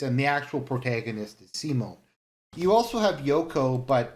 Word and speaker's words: Simon: main protagonists Simone although his name is written Simon but he's pronounced Simone for some reason and Kamina so